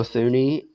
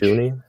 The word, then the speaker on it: Thuney: Trade for Joe Thuney, or is it just Joe Thuney? Am I just silent H? Thuney? I think it's silent H. Joe Thuney, and then was it Jonah Jackson?